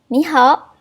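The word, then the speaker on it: 你好: yang kita belajar dalam basement yaitu nih Halo Ni hao Ni hao De Ce Ni Hao cara baca di adalah bukan 33 bukan nih ho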